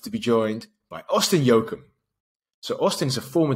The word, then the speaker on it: Jochum: I know everybody pronounces it wrong, but yeah, we got Jochum, owner of Jochum Strength, sports performance center.